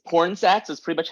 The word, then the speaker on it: Pornsak: I have Okay um is how do you pronounce it uh okay it's porn sex that's pretty much how it sounds and then